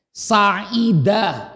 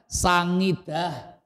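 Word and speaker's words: سعيد: Saidah yang benar itu said artinya bahagia. Tapi kita susah nyebut ai jadinya sangidah ya kan.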